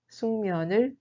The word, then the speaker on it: 숙면: La prononciation de 숙면 est en réalité 숙면.